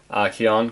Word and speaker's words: Kian: something which Kian Mansour, Kian, because it rhymes with neon, sorry, he's talked about